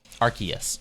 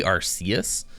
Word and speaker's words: Arceus: It used to be Arceus, but they changed the pronunciation because the first three letters sounded like arse, which is another way.